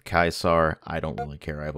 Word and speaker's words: Caesar: I've always pronounced this series as Caesar. I know the technical Latin pronunciation is something along the lines of Caesar.